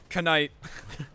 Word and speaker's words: knight: You don't pronounce the K. Knight.